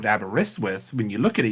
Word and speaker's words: Aberystwyth: it's it's like uh another one closer to home is aberystwyth in Wales that is when you look at that like and you know it's called abaris with when you look at